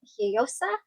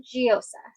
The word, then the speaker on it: Gioiosa: I found two different pronunciations. First one being Gioiosa and the second one Gioiosa.